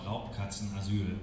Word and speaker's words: Raubkatzenasyl: The charity for this year is the, let me see if I pronounce it right, Raubkatzenasyl. Yes, it's called Raubkatzenasyl, which basically means it's a home for abandoned big cats.